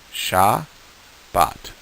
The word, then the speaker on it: Shabbat: that down so it the first sound is sha the second sound is ba and the last sound is but the second syllable is bot the first syllable is sha sha but say that with me sha bot great a few study